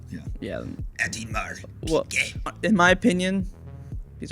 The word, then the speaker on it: Audemars: Audemars.